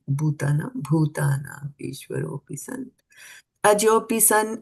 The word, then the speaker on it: bhūtānām: Try to say bhūtānām, right? The H. Try to pronounce the H here also. Bhū and not bhūtānām.